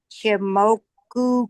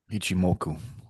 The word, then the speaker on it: Ichimoku: I'm going to say it right, but this shimoku cloud. Can you explain what that is? A what cloud? It's a I h I am ku. Ichimoku.